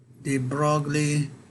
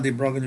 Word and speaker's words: de Broglie: sometimes called the thermal de Broglie, actually it's pronounced differently from the way it's been spelled.